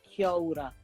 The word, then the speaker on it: kia ora: So it's if you said it in an English way, it's kia ora, but the true way to say it is kia ora. So Maori vowels are a, e, I, o, u instead of a, e, I, o, u.